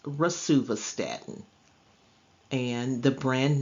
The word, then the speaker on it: rosuvastatin: It is pronounced rosuvastatin.